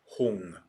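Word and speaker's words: hūṃ: padme you know it's when tibetans read sanskrit mantra that writes actually whom they pronounced hung with ng so that's why there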